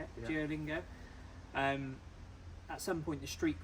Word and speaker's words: Duolingo: Duolingo.